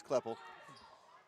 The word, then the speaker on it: Kleppel: one minute to go i think it's cleopole i think so it wouldn't be the first time i've mispronounced the name kleppel it's kleppel get it inside off and